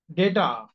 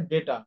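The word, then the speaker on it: data: কম্পিউটারের কাছে ডেটা। আমরা যেটাকে বলি ডেটা। ডি এটি ও উচ্চারণ বলা হয় ডেটা। ডাটা না ডেটা।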